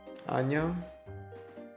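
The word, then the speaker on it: 안녕: Anyong. Perfect. An is the first syllable and nyong is the second together.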